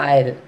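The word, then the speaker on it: aisle: Island, isle, I-S-L-E, but we are reading as a isle. Then again A-I-S-L-E, that also S is silent there, so we are reading as a isle.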